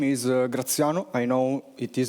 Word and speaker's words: Graziano: My name is Graziano. I know it is not the easiest to pronounce for those who are not Italians, but hey, I didn't choose it, so thanks, Mom.